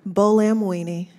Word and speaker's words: Buolamwini: Buolamwini.